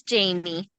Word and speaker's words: Jamii: then um how do you say your name jammie or Jamie it's Jamie Jamie give us give us a little bit